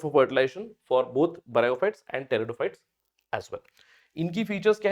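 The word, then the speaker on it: pteridophytes: इसके अलावा आप थर्ड फाइलम में जब पहुंचोगे टेरिडोफाइट्स। अब टेरिडोफाइट्स से ध्यान रखना है। यहां पे टेरिडोफाइट में पी साइलेंट है तो टेरिडोफाइट से टी याद रखना है।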